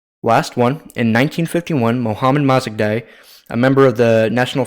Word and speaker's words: Mossadegh: Mossadegh. Fuck it. It's Mossadegh.